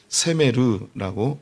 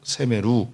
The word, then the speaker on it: 세메르: 그런데 이것을 세메르라고 세메루 이렇게 발음하는 것을 그들은 좋아합니다.